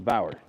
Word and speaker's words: Bauer: So the polisher I'm using today, it's a Bayer. Bayer? How do you say that? Someone chat. How do you say Bayer? Is it Bayer? Bauer? It's a Bauer.